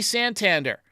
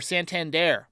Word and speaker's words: Santander: Anthony Santander. Or Santander. I put the emphasis on the wrong syllable.